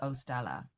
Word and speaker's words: 0Stella: the album because the my name is ostella and the zero in my name that it's spelled with stands for zero waste so last through lockdown